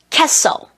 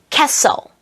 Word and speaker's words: castle: castle, castle, Christmas, Christmas, listen, listen. 자, 이제 H가 묵음이 되는 소리.